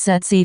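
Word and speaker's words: tsetse: brown coloring a bite from a zed's fly pronounced said sea fly is to put it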